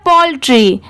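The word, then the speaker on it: poultry: डी एंड ये है पोल्ट्री पी ओ यू L Paul और टी आर वाई इसे ट्रा नहीं पढ़ेंगे इसकी साउंड क्या आ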